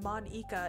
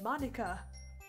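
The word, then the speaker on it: Monika: it really iike huh that's not how you say my name at all so Monica it's not Monica it's Monica also that job means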